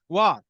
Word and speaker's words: Waugh: So Dr. Thomas Woe, or is it Waugh. Woo? Waugh. Waugh. Okay. Oh, just like the British writer.